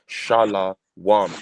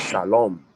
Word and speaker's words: shalom: Furthermore, they're not even saying peace because they're saying shala wam. That wam, that W in the wam is a vowel. It's the vowel. So it's shalom.